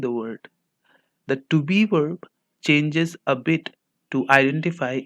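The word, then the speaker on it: वे: The V is pronounced only half and the E is stressed to sound like way.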